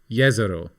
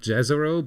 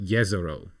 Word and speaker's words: Jezero: name there you go the J is pronounced like why in Yak jezero in check means Lake exactly so yero yero crater yero not jezero but yeero there you go thank